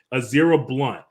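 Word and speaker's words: Ezra Blount: this uh kid his in his name is pronounced azera blunt he was actually at the concert with his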